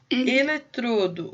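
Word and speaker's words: eletrodo: a palavra oxítona depois o electrodo electrodo o som é fechado tá ele entrou é uma paroxítona ensiná-la o show sim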